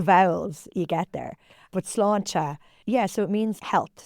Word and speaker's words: sláinte: When you toast someone in Ireland, you don't say cheers, you say sláinte. And I want to make sure, again, I'm pronouncing that correctly because I don't want to